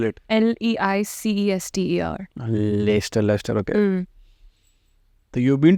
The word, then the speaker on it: Leicester: How do you spell it? LEICESTER.